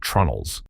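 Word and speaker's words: treenails: Vikings fastened their planks with iron rivets and roves, and for many structural connections they used wooden pegs called tree nails, which most people pronounce as trunnels.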